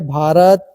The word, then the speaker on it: भारत: है यदि जब बी के बाद एच आए तो बी एच को भ ध्वनि की मात्रा उच्चारण करते हैं ये सिंपल रूल है